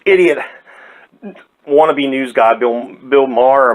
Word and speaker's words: Maher: bad as this idiot wannabe news guy, Bill Maher or Mayer, or however you say it. Mystery Lady, how do you say his last name? Maher?